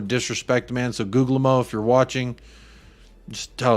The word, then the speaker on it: Guglielmo: The second G in Guglielmo is silent. Guglielmo. I like Guglielmo personally until I hear him say it.